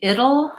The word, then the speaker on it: it'll: for it it will we reduce that to it'll it'll it sounds like vowel it flap T and and dark L which basically has a schwa before it so it'll it's two syllables the OL sounds like oh and it sounds like it it'll it'll and then that'll same